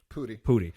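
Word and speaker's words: Pudi: Pooty.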